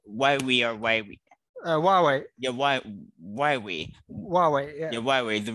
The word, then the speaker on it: Huawei: How do you pronounce this again? Why? Weibo. No, not Weibo. Huawei or Huawei. Huawei. Yeah, Huawei.